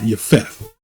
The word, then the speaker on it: Japheth: They are Gentiles, sons of Japhet, or it's properly pronounced Japheth, right?